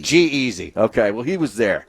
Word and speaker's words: G-Eazy: Jeezy or Jeezy or whatever? Yeah. How do you pronounce it? Done with these people. It was like G-Easy. Yeah. Is it Jeezy No. or is it G-Easy? G-Easy.